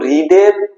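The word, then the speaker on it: read: সেটার কি হয়ে যায় পিপি হয়ে যায় তো রিডের পাস্ট পার্টিসিপল ওই রিডই রেড বলা হয় মানে প্রোনাউন্সিয়েশনটা রেড হয়ে যায় বাট আমাদের স্পেলিং কিন্তু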